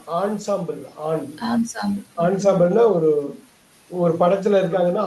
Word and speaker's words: ensemble: என்னன்னு படிக்க கூடாது. ஆன்சாம்பிள்.